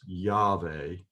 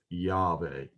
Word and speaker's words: Yahweh: But I'm going to go ahead and pronounce Yahweh. I'm not trying to take it in vain. I'm trying to use it in a very worshipful way, trying to teach you the holy language of the Bible. And so I will go ahead and pronounce it as Yahweh.